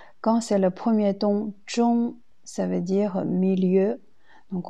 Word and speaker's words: 中: Premier mot, zhong, comme dans zhongwen, il y a deux prononciations. Quand c'est le premier ton, zhong, ça veut dire milieu.